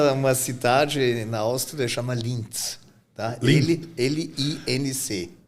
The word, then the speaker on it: Linz: Lindt não tem nada a ver com aquele chocolate? Não. Porque é o mesmo nome ou não? É parecido a pronúncia só? É diferente. Lindt é um chocolate, em minha cidade chama Linz.